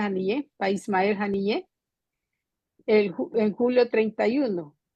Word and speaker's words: Haniyeh: Partido Marxista-Leninista de Canadá condenó el asesinato del líder de Hamas, Ismael Haniyeh, creo que se pronuncia Haniyeh, Ismael Haniyeh, en julio 31, un acto criminal que fue cometido por los sionistas.